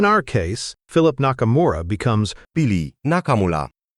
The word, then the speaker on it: Nakamula: Also note that in tokyp pona, stress is always on the first syllable. So Nakamura becomes Nakamura.